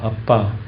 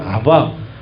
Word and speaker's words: 아빠: 것입니다 아빠 아버지요 아빠 아빠 입니다 히브리고 비슷한 아람어의 표현을 그대로 가져온 거예요 우리 말 뜻하고 거의 똑같아요 놀랍게도 옛날에는 아바 아버지요 했어요 아바 아버지 근데 발음을 정확하게 옮기면 아바라는 말이 아니라 아빠가 맞아요 그래서이 개혁 계정에서는 그대로